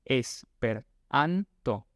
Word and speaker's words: esperanto: Eso significa que el acento viene antes de la última sílaba. Por ejemplo, en el caso de esperanto, va como en esperanto. Y las sílabas las podemos dividir según la cantidad de vocales que tiene la palabra. Entonces, por ejemplo, esperanto tiene tiene 4 vocales, entonces tiene 4 sílabas. La anterior a la última es la que lleva el acento.